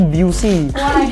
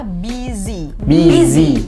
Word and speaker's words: busy: busy ya literally buy ada yang berusaha banget tuh buusy pernah dengar seriusan mentang-mentang bacanya y heehah tapi itu kurang tepat teman-teman ya yang benar adalah buizy pakai Z pakai Z buy dan teman-teman By